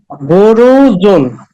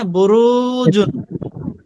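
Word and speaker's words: بروج: বানান করেন আবার বলেন বুরুজুন বুরুজুন এখানে রতে টান হবে হ্যা বুরুজুন দরুদ জির ভাই ডান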